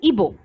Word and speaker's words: Igbo: So the spelling is Igbo, but when you pronounce it, the pronunciation is Ibo. So because you're pronouncing it as Ibo, you should not spell it as IBO.